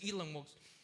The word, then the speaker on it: Elon Musk: él me menciona, Elon Musk decía, y es Elon Musk, así se pronuncia el nombre.